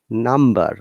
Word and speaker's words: number: Numb, there is no b sound at all. Okay, but num. Okay, but when it becomes with er, number, we must pronounce b. This time b is not silent.